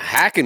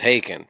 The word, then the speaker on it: Haken: smoking now yeah yeah hacking is very would be a very Canadian pronunciation you know what I mean like I know it's haaken but when I see it just the Canadian Moses a hacking You' be [ __